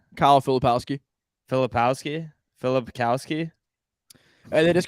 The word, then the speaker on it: Filipowski: Kyle Filipowski.